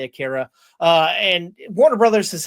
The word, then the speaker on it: Akira: manga turned anime film Aara Aura, whatever you want to pronounce it. I say Akira.